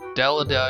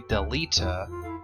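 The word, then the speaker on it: Delita: all that's actually bail dele da is actually deleta and we graph has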